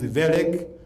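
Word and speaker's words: Wellek: You don't read it Welek, it is Welek.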